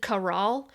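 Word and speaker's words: Karal: one, and of course took out Carol, which they said Caral. And I'm like, oh, I've been calling her Carol this whole time. Oops. I didn't realize that her name was supposed to be pronounced Caral like that.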